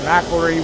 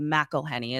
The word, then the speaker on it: McElhenney: Ryan Reynolds, McElroy, whatever. Who's absolutely riding away on the coattails of Ryan Reynolds and Rob McElhenney is how you say the name, Tom.